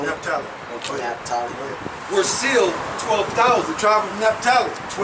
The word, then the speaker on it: Naphtali: That's how you say it, Naphtali.